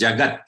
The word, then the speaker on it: jagat: vowel following it so it should not be pronounced pronounced as jagat and not okay and I had